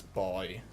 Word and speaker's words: buoy: It's not buoy, it's boy. The U is silent.